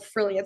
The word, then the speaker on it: Frilliance: It's like if Oh, you pronounce it like brilliance, but with an F. So like Frilliance.